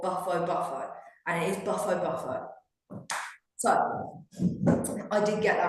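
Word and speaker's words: Bufo bufo: Um, baffo baff buffo buffo or buffo buffo and it is buffo buffo.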